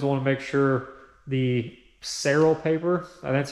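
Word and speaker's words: Saral: but you always want to make sure the seral paper I that's how you pronounce it it's like s a r a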